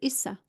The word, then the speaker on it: Issa: He said his name was Issa. Issa. So two syllables, cosmic syllables, which actually meant the son of Divine Mother.